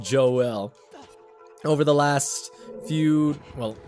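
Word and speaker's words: Joelle: the ghosts Joel it turns out it is pronounced Joel over the last few well I guess today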